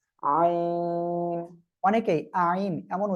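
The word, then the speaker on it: عين: এটাও গলার মধ্যখান থেকে আমরা উচ্চারণ করব, গলাটা চেপে হালকা উচ্চারণ হবে আইন। অনেকেই আইন এমন উচ্চারণ করে, এটা করা যাবে না। আইন আমরা এভাবে উচ্চারণ করব।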